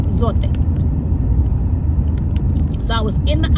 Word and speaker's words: Zote: for laundry soap, the zote. A lot of people call it Zot, but it's a Spanish product and it is it's pronounced zote.